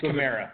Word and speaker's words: Kamara: Alvin Kamara, I always pronounce it wrong, I don't really care. It's Kamara.